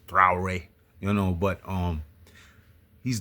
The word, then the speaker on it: Traoré: However, this guy Ibrahim Tr just sorry for for mispronouncing his last name is Trare, you know, but um he's done so much for his country in a short time.